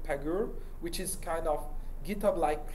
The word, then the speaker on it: Pagure: We are currently building a tool called Pagur, which is kind of GitHub-like clone for both for Fedora, but which would be reusable by anyone. What's it called? Pagur.